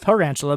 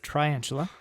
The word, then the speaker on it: Triantula: Not Tarantula, but Triantula.